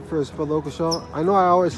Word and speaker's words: Occleshaw: Well, let's get your pronunciation of your name first, Brother Occleshaw. I know I always say it wrong, so it's not Occleshaw. It's Ockle. It's Occleshaw. Occleshaw, like kind of like October.